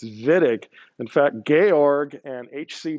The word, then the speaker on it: Wittig: and pronounce it correctly he's german so w is a v sound don't call it the wittig reaction we'll know right away that you're not an organic chemist if we hear whitting okay it's vitic in